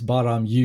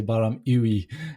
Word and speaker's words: Baa-Ram-Ewe: that said it right it's baram you you're right most people say baram ooey yeah the references is